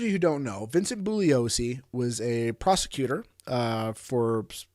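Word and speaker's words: Bugliosi: you haven't read uh vince buglio bullios excuse me g is silent bullios's uh book um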